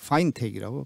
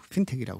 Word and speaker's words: fintech: 그래서 파인텍이라고 발음이 됩니다. 많이 종종 우리가 핀텍이라고 그러죠.